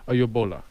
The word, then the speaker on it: Oyegbola: So I want to proud to have on the Councilman Akanni, and he told me how to pronounce his last name appropriately, Oyegbola.